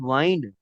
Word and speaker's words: wind: जैसे विंड है, हवा, हवा, WIND विंड, हवा। और WIND वाइंड, बल खाना, वाइंडिंग रोड, बल खाता रास्ता, बल खाती सड़क।